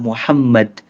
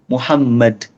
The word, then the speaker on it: Muhammad: Jadi gini, kita bacanya Allahumma sholli ala Muhammad. Asal M-nya double aja. Muhammad, Muhammad, Muhammad. Tapi nggak perlu jadi Muhammad. Itu nggak perlu. Nggak perlu. Ya, yang penting M-nya double. Jangan Muhammad, Muhammad salah. Tapi Muhammad.